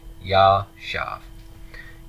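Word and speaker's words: יָשַׁב: into a tooth that must be a commence so this is a long eight yeah shop yeah shop that's easy right let's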